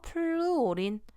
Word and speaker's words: 플루오린: 그래서 외워두실 건 FCl 브로민, 아이오딘 해서 이거를 부를 때는 플루오린이라고 읽어요. 플루오린. 그 다음 Cl은 염소, Br 하면 브로민, 그 다음 얘는 아이오딘 이렇게 읽어요. 그래서 플루오린, 염소, 브로민, 아이오딘 이렇게